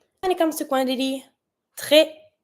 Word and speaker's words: très: If I want to say very, I'm going to say très. I don't pronounce my S, and you see that on that E, I have a low accent, so I'm going to say très.